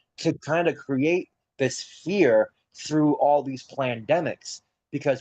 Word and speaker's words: FAIR: That's like the gasoline for for the findable, accessible, interoperable, and reusable, which is FAIR principles, FAIR, but that FAIR is pronounced fear.